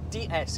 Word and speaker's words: DS: One final thing about the name, it has a wonderful punt about it because in French, DS is pronounced D S, which is also their word for goddess, which I think is